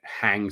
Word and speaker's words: hang: Now, the pronunciation here is the H has an exhalation, right? Hang. So when you pronounce the H, just small mini second of exhalation. Hang. Okay, like a long sound.